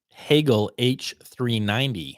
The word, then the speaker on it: Hagel: I learned how to pronounce it. Hagel H390.